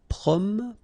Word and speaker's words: promener: Okay, don't insist on this here. Okay, so it will go like promener, promener.